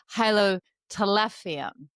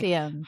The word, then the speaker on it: Hylotelephium: It's now Hylotelephium. Wait, no, I had it. Hylotelephium.